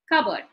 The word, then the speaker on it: cupboard: Now, if the word is a noun or an adjective, the first syllable is stressed. Cupboard. Now, if you look, let us do the chin technique here. Cupboard, twice, two syllables. Now, if you, since it is a noun, the stress comes before the k sound, the cupboard. If you notice in the transcription, the p sound is missing.